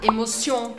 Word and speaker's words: émotion: E também, normalmente, as palavras em francês, a sílaba forte é a última. Legal. Então aqui a gente vai puxar. Então aqui a gente vai puxar émotion.